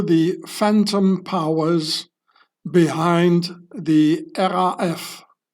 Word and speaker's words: RAF: powers behind the RF which I will only pronounce the German way in order to not be confused. used with the RAF, Royal Air Force. So in German you say RF instead of R AF.